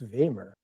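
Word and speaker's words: Wegner: So in in uh Danish it's Hans Vemer Beamer. They have just the weirdest pronunciation.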